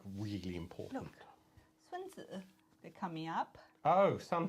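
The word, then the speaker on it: Sunzi: So that's not even a T. It's a D.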